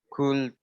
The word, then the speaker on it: could: I could play soccer. Okay, let's repeat after me. Without L and just pronounce D. Could.